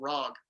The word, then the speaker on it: Rawg: So GWAR, there's a band intimately connected to GWAR but distinct from GWAR called RAWG, which is, in case you can't tell from the pronunciations, GWAR spelled backwards.